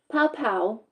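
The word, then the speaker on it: Pao Pao: Pow Pow, P-A-O, that's how you say it, a restaurant that married the cuisines of Peru and Venezuela, sounds delicious, at 124 Woodstock Avenue in Rutland.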